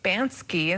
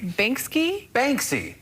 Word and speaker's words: Banksy: reminder of the need to pay attention when pronouncing difficult names trending this morning a work of art by bansky is am i saying his name right basically banksy banks have you not heard of banksy yeah